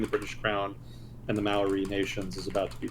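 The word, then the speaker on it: Māori: with significant tensions between indigenous Maui not mayori but Maui I got [ __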